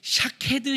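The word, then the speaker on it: שָׁקֵד: 샤케드, 샤카드, 쇼케드 다 모음은 똑같은데 여기에 점을 어떻게 찍느냐에 따라서 발음이 달라지는 거예요.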